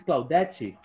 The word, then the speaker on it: Claudette: Miss Claudette, your name is in Portuguese, yes? Portuguese. Portuguese. So the pronunciation is Claudette.